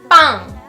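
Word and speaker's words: 빵: Don't just sort of make the double consonants a little bit more like emphasized, really emphasize them. To say bread in Korean, it's bang, bang, like full on make that sound like bang.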